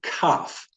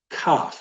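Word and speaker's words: כף: this is the letter cough try saying that cough not cough cough so cough you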